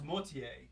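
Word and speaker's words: Boismortier: You should pronounce it. It's Bosmortier.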